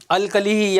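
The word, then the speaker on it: alkali: अल्कली या अल्काली जो भी बोलो एक ही बात है, मतलब प्रोनाउंसिएशन अलग अलग हो सकता है, अल्काली या अल्कली, ठीक है।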